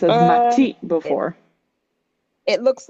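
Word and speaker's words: 街: You might have heard it pronounced as Uh, machi it, before. it looks like two Earths between to go. Sadly, no. So, this one is pronounced as machi, means city, specifically a large Oh, city.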